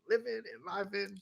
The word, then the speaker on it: Enliven: Is it Enliven? It's Long Eye. Enliven. Enliven.